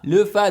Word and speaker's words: Lefa: réaction de le phare lefa désolé j'oublie toujours je prononce toujours le nom de lefa comme les femmes lefa le fin en